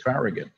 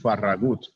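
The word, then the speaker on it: Farragut: United States Navy was David farag or more accurately pronounced David faragut whose iCal father was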